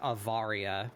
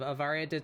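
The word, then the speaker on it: Awaria: It's called uh I I I believe it would be pronounced Avaria, but it's spelled with a W.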